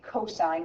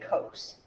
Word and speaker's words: cos: cosine is cos again when you see that we say cosine we don't say Coast all right the previous